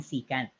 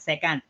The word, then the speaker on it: secant: by the way uh that's how we pronounce it as secant and cosecant okay not second because i can now